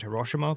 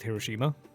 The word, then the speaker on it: Hiroshima: or hiroshima or whatever like i pronounce it kind of in a regional way i think i think the americans call it hiroshima but i call it hiroshima oh okay well there